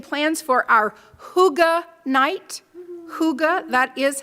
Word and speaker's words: hygge: Hygge, that is how you say it, at FUS.